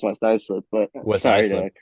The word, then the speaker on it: Islip: It's actually pronounced West Islip, but West sorry Islip.